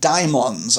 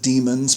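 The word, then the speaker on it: daimon: he talks about um the difference between angels and diamons I'm not going to say demons um because there is um you can pronounce it demons but I don't you know um but it doesn't mean demon the way we understand the word demon it's it's it's a term used in Plato to refer to um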